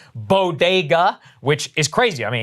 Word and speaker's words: bodega: breakfast tacos and not being able to pronounce bodega which is crazy i mean if you've never been in new york city before bogota like what is happening yeah listen we could